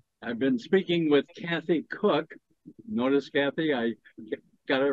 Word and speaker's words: Koch: I've always known it's cook and here I am I open the interview with Kathy Coke Kathy cook K C but it's pronounced cook Kathy Cook are you